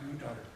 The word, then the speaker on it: Qatar: In Qatar, is that how I say it? It's spelled Qatar, I think, but pronounced Qatar.